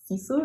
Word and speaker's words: Sisu: this is um sandness Garn sisu is that how you say it yeah this hair and the